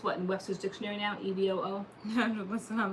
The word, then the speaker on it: EVOO: Oh, EVOO, that's how you pronounce it?